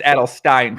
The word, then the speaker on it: Adelstein: So, but now it's it's Adelstein, correct?